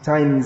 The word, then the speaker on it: times: they say an american just like the word times good times it's times z it's not pronounced as a hard s sun there's a in